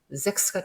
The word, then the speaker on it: Sechs: 자, 반면에 3번은 S 다음에 모음이 나오면 S가 Z 발음이 난다. 이 규칙에 의해서 Zex가 되는 겁니다.